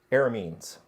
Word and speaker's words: Arameans: Arameans.